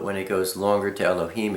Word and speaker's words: Elohim: Aleph, you can be pronounced A, E, and A. Lamed is pronounced L, the L. Hey is, the breath. Yod is pronounced E, and Mem is pronounced with an M.